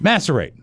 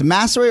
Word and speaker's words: macerate: that's important master right macerate that's right I said it wrong but you said Macy do you make up the nallett at what it's massery or may sheet its macerate forgive me that sounds even